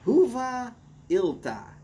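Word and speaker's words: Hyvää ilta: It's pronounced Huva Ilta, at least according to Google Translate. And Boris said, yeah, that's pretty close. So, Huva Ilta, Boris.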